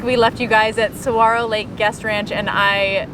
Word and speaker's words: saguaro: even know so anyway don't pronounce the g we're really sorry to